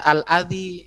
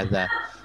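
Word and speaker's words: أذى: Ya, kalau dibaca al-adhi itu isim mangkus, tapi yang mempunyai makna penyakit itu adha. Ya kan? Wala tubtilu sadaqatikum bil manni wal adha. Ya. Jadi bacanya adha.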